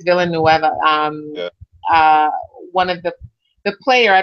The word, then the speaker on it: Villanueva: I think I was going to say Villanova, but I think it's Villanueva.